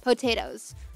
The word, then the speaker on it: Potoooooooo: now best known for the unusual spelling of his name pronounced potatoes that